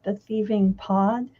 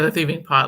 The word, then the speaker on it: The Thieving Pot: The Thieving Pod? yeah, The Thieving Pot, like a cooking pot, because Oh, the main okay.